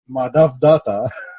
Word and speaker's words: Madhav Dutta: We call him Mehdi, but in reality, his name is pronounced Madhav Dutta.